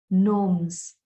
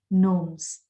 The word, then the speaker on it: gnomes: pronounced queens fairies knights gnomes k in the word knights is silent g in the word gnomes is silent so nights and gnomes so in this verse